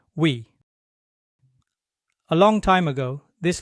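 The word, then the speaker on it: ㅟ: So these days, Koreans pronounce it by smoothly moving from the U shape to the E shape like this.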